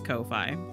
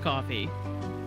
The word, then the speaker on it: Ko-fi: I keep thinking it's Ko-Fi or Kofi, but I think it's supposed to be pronounced coffee.